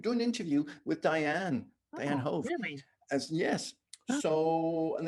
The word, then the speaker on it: Hoeve: I'm at the doctor's office, and they're like, Dianne, I say Hoeve.